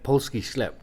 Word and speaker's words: Polski sklep: It was so great to have so many, Polski sklep, is that the right pronunciation?